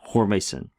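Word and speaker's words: ὥρμησεν: right pardon me the I should put the stress on the right syllable there hormas this is from the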